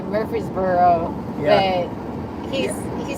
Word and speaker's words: Murfreesboro: It's spelled Murfreesboro, but like the old timers, the old timers that are natives of Tennessee, it's kind of like they make a noise. They go Murfreesboro, Murfreesboro, Murfreesboro.